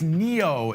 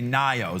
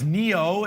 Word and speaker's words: NIO: it we often say nio so I did see some people there asking us which way is proper uh it's Neo is how you pronounce it but nio ticker symbol